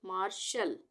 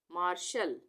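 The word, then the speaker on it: marshal: किसी भी शब्द में यदि अंत में ए आर ए एल ए एन हो तब भी ए का उच्चारण अ होगा जैसे एम ए आर एस एच ए L last में ए एल आ रहा है ठीक है तो यहां पर हम क्या इसको पढ़ेंगे मार्शल मार्शल उसके बाद प्रिंसिपल यहां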